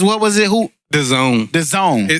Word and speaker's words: DAZN: But Canelo Alvarez signed a massive $365 million deal with Daznaz. What was it? Who? The Zone. The Zone. Spell it.